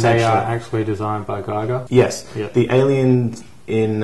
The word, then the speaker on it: Giger: It's H.R. Giger, or Giger, however you want to pronounce it. There are a lot of sort of debates about that, but to me it's Giger.